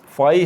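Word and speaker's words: phi: का फार्मूला यह है फई है यह सिंबल पहले भी मैंने बताया था इसको थीटा मत प्रोनाउंस कीजिएगा यह फई है पीच आई फई थीटा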